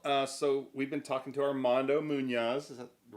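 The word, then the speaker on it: Armando Muñoz: Well, so we've been talking to Armando Munoz. Is that the right way to pronounce it?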